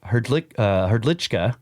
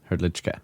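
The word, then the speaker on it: Hrdlička: Hrdlicka. Yeah. Okay. All right. But it does look like Hrdlicka. He just says that you probably pronounce that with a CH in there.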